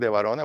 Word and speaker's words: De Varona: You write my name, de Varona, which is right here on the screen.